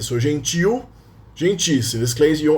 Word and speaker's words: gentil: Notice that gentil is accented. The stressed syllable is the last one. The stress, it is stressed in the end. So gentil, gentis.